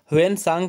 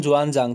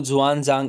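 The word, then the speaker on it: Xuanzang: ह्वेनसांग का नाम जुआनजांग था। ये थोड़ी प्रोनाउंसिएशन भी आप देख सकते हैं, चाइनीज़ है इसलिए ह्वेनसांग को जुआनजांग, इस तरह से आप याद रख सकते हैं।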